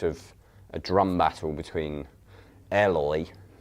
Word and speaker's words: Eloy: a drum battle between Eloy, recently learned that's how you pronounce his name, and El Estepario man.